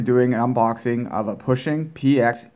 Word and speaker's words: Puxing: I hear a lot of people calling it book singing and stuff but from my understanding it's pronounced pushing this is the px8 8k model it comes